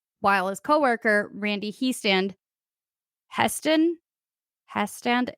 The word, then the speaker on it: Hestand: So Abbott Rick Abbott, who's 23, is, like, patrolling the museum while his coworker, Randy Heston Hestand? It's spelled he stand, so Hestand, I'm going with he maybe? stand.